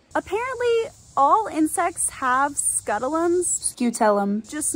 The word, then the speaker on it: scutellum: bugs are easily identifiable by the large triangular scutulum on their thorax it's this triangle that you see right here editing gabby here and it is actually pronounced skeutelum apparently all insects have scuttleums scutellum just not as prominent as the stinkbug at